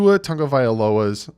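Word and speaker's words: Tua Tagovailoa: before the draft happens and that is to Otunga violas and yes that's how you pronounce it again I looked it up his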